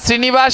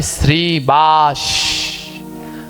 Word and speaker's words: শ্রীবাস: প্রতিদিন বলেন তো শ্রীবাস হবে না শ্রীনিবাস হবে? আমি অনেকজনকে দেখেছি 100 জনের ভিতরে প্রায় 60 জন উচ্চারণে ভুল করে। ওখানে হবে শ্রীবাস।